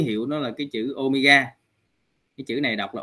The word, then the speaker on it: omega: Thì nó được ký hiệu nó là cái chữ Omega. Cái chữ này đọc là omega các anh chị.